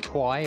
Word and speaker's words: quay: You might have seen it spelled like quay, or it's pronounced quay.